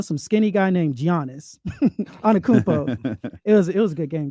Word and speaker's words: Antetokounmpo: There are still basketball people who add the G to us, but they make Giannis or Giannis, but it's Antetokounmpo.